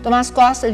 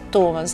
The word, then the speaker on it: Tomás: agora à tarde hora tomás costa de 17 anos que muita gente pronuncia tomaz neto está muito abalado após